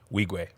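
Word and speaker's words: Nwigwe: And how do you pronounce Toby's last name? Wigwe. Weegwe?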